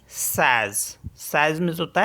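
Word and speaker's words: seize: है queen and एस ई आई जड ई सज सज मीस होता है 16 अब देख लेते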